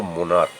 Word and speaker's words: monarch: সেই সিএইচের যখন কয়ের মতো উচ্চারণ হবে, যেমন ধরো মোনার্ক, MONARCH, এখানে সিএইচ আছে ঠিকই, কিন্তু চয়ের উচ্চারণটা আসছে না, এখানে কয়ের উচ্চারণ হচ্ছে, যার জন্যে মোনার্কস হচ্ছে, এস যোগ হচ্ছে, ইএস যোগ হচ্ছে না।